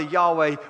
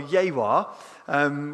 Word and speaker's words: Yahweh: They produced the mistranslation of Yahweh, which in Hebrew was supposed to be pronounced either Yahweh or Yehwah, which sounds like we're talking Klingon at the moment.